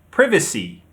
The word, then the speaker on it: privacy: In British, we say privacy. Privacy. The stress is on the second syllable, privacy. In American English, you say privacy. Privacy. The stress is on the first syllable, privacy.